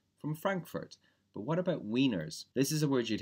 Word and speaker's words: Wiener: Frankfurt but what about wieners this is a word you'd hear more in the u.s. Wiener pronounced in Germany is Vener because it comes from Vienna I didn't know that